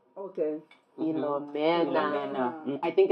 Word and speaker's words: Philomena: And it's Philomena. Okay. Philomena.